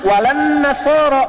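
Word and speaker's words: ولا النصارى: Cuman kita bacanya pakai eh kan alif lamnya syamsiyah tuh ya. Lamnya masuk ke nun. Walan nasara. Padahal itu tulisannya la wala annasara.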